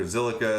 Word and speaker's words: Zilliqa: elrond is named after zilliqa is just kind of a random word um that amrit kumar the ceo made up and uh that's what that's kind of rhymes with silica silicone you know computers and